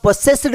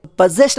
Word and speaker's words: possessed: ಇ ಡಿ ಈ ಪದವನ್ನು ತುಂಬಾ ಜನ ಪೊಸೆಸ್ಡ್ ಅಂತ ಉಚ್ಚಾರಣೆ ಮಾಡ್ತಾರೆ ಅಗೈನ್ ಇದು ತಪ್ಪು ಉಚ್ಚಾರಣೆ ಆಗುತ್ತೆ ಈ ಪದ ಸರಿಯಾದ ಉಚ್ಚಾರಣೆ ಪೊಸೆಸ್ಡ್ ಅಂತ ಅಂತ ಬರುತ್ತೆ ಇದು ಪೆಸೆಸ್ ಪದಕ್ಕೆ ಇಡಿ